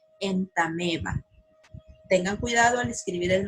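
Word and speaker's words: Entamoeba: no tiene sonido es por eso que se pronuncia en tame va tengan cuidado al escribir el nombre científico de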